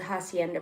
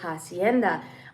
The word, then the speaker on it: hacienda: So if you guys don't know, I went to go see a really old hacienda, a Spanish hacienda. The H is silent.